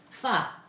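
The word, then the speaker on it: pho: Fa P ho is fa.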